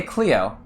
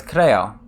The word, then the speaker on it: Cleo: I say you know but I say Cleo but it's Creo you know so I